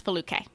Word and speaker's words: Foluke: If you can pronounce Schwarzenegger, you can pronounce Foluke. It's 3 syllables. It's spelled exactly like it sounds.